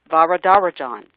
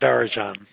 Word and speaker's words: Varadarajan: going to try because Lizette told me how to say it. Let me think it in my head. Varadarajan. That's how you say it. Varadarajan.